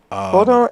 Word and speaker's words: Vodun: In the States it's voodoo, but in West Africa it's still Vodun. Vodun, it's Vodun.